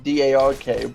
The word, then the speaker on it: Drk: So, you know, Drk Penguin was actually taken, so you know, looks, he did it Dr. K, which is very often how it's pronounced by most people in chats.